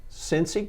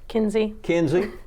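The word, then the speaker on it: Cenzi: And so on this show we have Cincy Crane. Kinsey. Spell that for me. C-E-N-Z-I. And so for years you didn't know, but I called you Cincy. And Billy and Rachel said, no, it's Kinsey.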